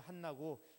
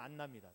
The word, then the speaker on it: 한나: 조금 강하게 해서 H 발음을 넣으면 한나고 그냥 부드럽게만 안나입니다.